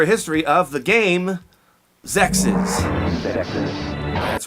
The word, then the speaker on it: XEXYZ: to promote this game sexes one more time sexes because a lot of people lights pronounce it Sexy's Zack sees and it doesn't sound as good it's not sexy it's sexist look out now in